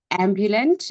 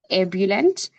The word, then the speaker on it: ebullient: incorrectly used at times, mispronounced as ambulant instead of ebullient.